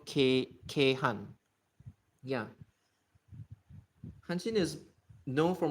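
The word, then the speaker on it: 京阪: Kyo can be pronounced as K, and that's why K and Han. Han is Osaka, the Saka part, and then the Chinese pronunciation, as in the one that's borrowed from Chinese, is Han. So K Han.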